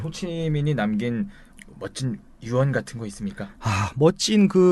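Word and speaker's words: Hồ Chí Minh: 갖는 다 그런 뜻입니다 그래서 우리나라 발음으로 후 지명이 조 호 지명 호지 명이고 그 베트남 발음으로 호치민이 되겠습니다 그 사람들은 뭐 우리 에서는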